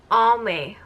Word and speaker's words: Almay: have this is from all Mae or Al makes I know people pronounce it differently but I pronounce it al Mae so this is their